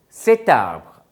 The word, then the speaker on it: cet arbre: So, you are adding a T to make it more pronounceable, cet arbre.